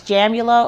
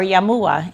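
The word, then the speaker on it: Jamuła: My maiden name was Jamula or Jamua in Polish, as we pronounced it.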